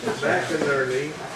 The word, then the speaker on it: McInerney: Anyway, right now we are here to hear, hi, Ileana, McInerney, McInerney. Oh. What? It rhymes with Bert and Ernie.